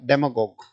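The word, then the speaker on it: demagogue: जी ओ जी यूई पढ़ क्या जाएगा डेमगॉग डेग यह उच्चारण है बेटा इसका भड़कीले भाषण देने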